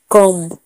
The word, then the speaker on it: comb: B silent कब होता है? जब एम के बाद बी आए तो बी साइलेंट होता है। जैसे कम, कम में COMB, कम। बी के एम के बाद बी है इसीलिए बी यहाँ पर साइलेंट है।